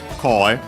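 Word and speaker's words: 声: of the compound, goe, actually from koe, accent on the first syllable, on the ko.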